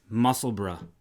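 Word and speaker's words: Musselburgh: page that everybody's knitting the hat of many pronunciations by is older tea great muscle burg muscle burn muscle burra however however the correct pronunciation oh here we go how do we know this because we have uh insider information is muscle bra that's how you say it okay yeah so we're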